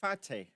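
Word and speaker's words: Fateh: Fate.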